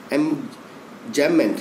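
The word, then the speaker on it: enjambment: इसका स्पेल होता है EMJAMBMENT। एमजैममेंट, इसमें बी साइलेंट है।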